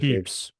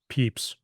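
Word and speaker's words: Pepys: Well, uh, I forgot how to pronounce his name. I think there's a very specific Peeps. Peeps.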